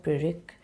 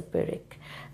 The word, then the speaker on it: pyrrhic: Can you ever stress anything in the word pyrrhic? If you pronounce pyr and then rick, well, it has to be a soft sound all around.